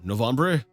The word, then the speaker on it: Novembre: world by Roderick dude novembre November novembre I think I said it right the first time well we'll go with the the French reading of it when the